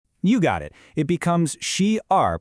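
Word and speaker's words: 十二: It becomes she r pronounced she r literally 10 2.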